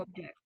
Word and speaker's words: object: Yes, not an object, because an object, it's a noun. The stress is on this on the first syllable in a noun, not in a verb.